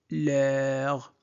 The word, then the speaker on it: leur: Camille est leur. E, U se prononce E, E, heure.